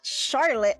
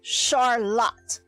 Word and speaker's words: Charlotte: She specifically told me it's not Charlotte like Charlotte's Web. It's Charlotte. Okay, Charlotte. It's how you pronounce that.